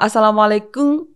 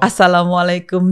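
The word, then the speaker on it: Assalamualaikum: Jepang tuh kalau kum kalau ngomong Asalamualaikum itu bunyinya harus mingkem gitu kan kalau guru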